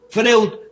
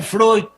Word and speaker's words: Freud: lo creó un bien es freus pero se debe pronunciar freud me mandan a rodar